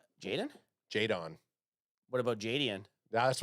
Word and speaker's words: Jaydon: Jaden. Jaydon. What about Jaden? That's why I kept on saying Jaden because I like Jaydon isn't Jaden. It's Jaydon blue.